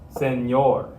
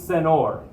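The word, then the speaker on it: señor: don't use that word this becomes senor senor most people probably won't even recognize your meaning to say senor if you say so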